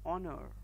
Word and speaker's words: honor: Similarly, when the consonant H sound is silent, we write an instead of a, as in case of an hour, an honor.